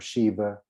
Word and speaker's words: sheba: oath yeah and so sheba with an e sometimes people pronounce with a v like victor instead of a b so sheba or shiva and then you then